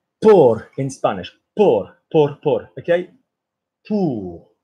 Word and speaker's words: pour: Pour. So OU, guys, if there's an O and a U, yeah, OB, the pronunciation, David, is OU. So it's not por.